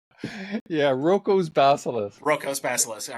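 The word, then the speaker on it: Roko's Basilisk: If I pronounce this right, Rocco's Basilisk. Yeah, Rocco's Basilisk.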